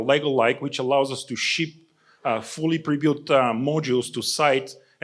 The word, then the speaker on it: SHIP: And I've been told to be careful with how I pronounce that SHIP, because with my accent, my P sometimes sounds like a T, so it is a P there.